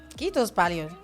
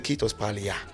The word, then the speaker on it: kiitos paljon: It was the first Finnish word that I learned, and I was not pronouncing it correctly. I was a kiitos palia.